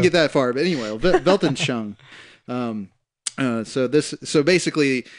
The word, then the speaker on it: Weltanschauung: He says that the worldview came into the English language through the German Weltanschauung. I think that's how you say it. Yeah, that's right. Weltanschauung.